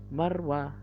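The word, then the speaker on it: مروة: ada di huruf Ro Jadi ketika tidak ada lambang Syukron dibacanya roh ketika ada lambang sukun Sonya jadi hilang jadi yang yang tersisa hanya huruf konsonan nya saja dibaca er jadi Marwah Marwah pendek ya Ayo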